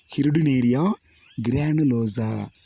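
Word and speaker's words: Hirudinaria granulosa: சரிங்களா, இந்திய கால்நடை அட்டையினுடைய அறிவியல் பேருன்னு பார்த்தீங்கன்னா ஹிருடினேரியா கிரானுலோசா. துல்லியமாக உச்சரிக்கணும்.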